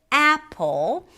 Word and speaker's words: apple: But if we take the word apple, we here have 2 syllables. The first one, a, is the primary stress, longer, louder, higher in pitch, apple.